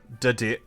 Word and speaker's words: Dedenne: Dedenne.